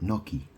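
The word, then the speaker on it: gnocchi: Or it's like an Italian food and it's called Noki. It's spelled like G N O C H I or something.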